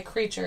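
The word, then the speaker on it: Kr3ture: All in Time by Creature, and it's spelled K-R, the number 3, T-U-R-E.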